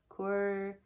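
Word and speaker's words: cœur: know how to say it c-o-e-u-r and Rouge core and Rouge so I guess that would translate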